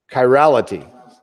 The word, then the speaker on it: chirality: Is it, how do you pronounce that? I'll find out. Thanks to YouTube. Chirality.